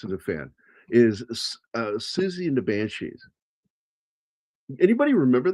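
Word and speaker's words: Siouxsie: Well, first of all, it's it's spelled so weird. It's spelled with an an S. S. It starts Susie, but the Z part is with an X. So, it's Susie and the Banshees.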